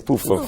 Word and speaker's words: PUFA: Is it PUFA? Yes, PUFA for sure.